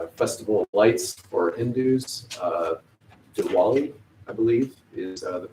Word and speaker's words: Diwali: Diwali, I believe, is the pronunciation of that.